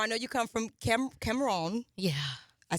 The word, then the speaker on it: Cameroon: to pronounce it yes I got it Cameroon a little bit okay it's good all right come on you gotta roll the tongue yeah but you're from